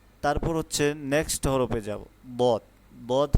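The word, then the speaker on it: ضاد: হচ্ছে নেক্সট হরফে যাব দদ হচ্ছে একটি মোটা হরফ যেমন দদের উচ্চারণটা হচ্ছে মোটাভাবে হবে।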